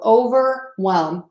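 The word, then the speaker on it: overwhelmed: over whelmed all right we don't see the H in this word so over whelmed Oh ver and then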